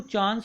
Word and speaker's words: chance: and had a chance, इसको चांस को चैंस भी पढ़ा जाता है अमेरिकन प्रोनाउंसिएशन में, उनकी फोनेटिक्स के अकॉर्डिंग।